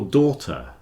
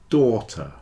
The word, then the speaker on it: daughter: doctor is not your daughter doctor daughter doctor you see doctor has a c in it daughter has a long or sound your doctor is not